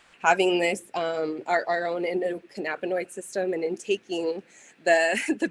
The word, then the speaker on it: endocannabinoid: Endocannabinoid.